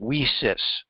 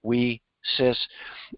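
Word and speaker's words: WiCyS: s women in cyber security and it's they pronounce it we sis get it we sis um and uh it's pretty good but uh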